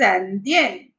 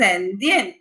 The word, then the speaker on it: Indienne: I'm clearly pronouncing Indian because before Swiss it is E and after Swiss it's I. So it is again combining all the vowels together. When you pronounce a complete sentence, it becomes Je suis Indian.